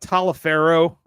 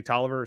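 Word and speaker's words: Taliaferro: it so yeah yeah it looks like talifero or Taro or something like that me it's actually toer so yeah you've got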